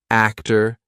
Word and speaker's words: actor: had the sound R now all of these words are going to be spelled with or but you're still going to say what you're still going to say ER okay here we go actor Doctor tayor Author mayor